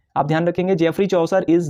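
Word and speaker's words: Geoffrey Chaucer: इसके अगले पॉइंट पर ध्यान देंगे, ध्यान रखिएगा, जेफरी चौसर।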